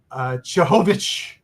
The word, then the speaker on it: Cehovic: But it is, believe it or not, it can be pronounced the English way as Harun Cehovic.